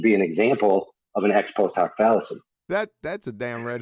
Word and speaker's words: ex post hoc: I don't want to butcher the order. Ex post hoc.